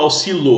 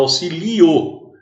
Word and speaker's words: auxílio: Você não fala auxilo, você fala auxilio.